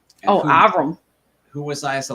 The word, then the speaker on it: Avrum: My name's pronounced Avrum. Avrum.